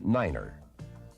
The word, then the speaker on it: niner: to represent these letters 9 is the only number pronounced differently it is said as Niner the key to good